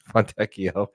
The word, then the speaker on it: Fontecchio: Thank you, people in the comments, for correcting AJ on his pronunciation. Fontecchio. Fontecchio.